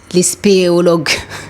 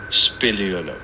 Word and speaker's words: spéléologue: Comment on dit ce truc? Spéléologue. Est-ce que je le prononce bien? Oui, très bien. Ok. Spéléologue. C'est nickel.